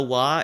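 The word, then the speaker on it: は: So, basically, this is, this basically, this wa particle, by the way, like, this is ha, but if you are using it as such, as a topic particle, the pronunciation becomes wa instead.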